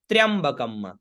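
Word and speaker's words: त्र्यम्बकम्: आधा ना तो देवन, त्र्यंबकम, आधा त्र य और आधा म, तो त्र्यम ब क और म, तो त्र्यंबकम म, ठीक है ना।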